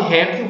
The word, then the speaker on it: réptil: Olha a palavra réptil, ela é paroxítona. A sílaba mais forte é essa primeira aqui, certo? E não a que está com L. O plural de réptil vai ser répteis.